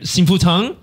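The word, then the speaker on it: Xing Fu Tang: You know, the very popular Taiwanese brand, Sinfu Tang?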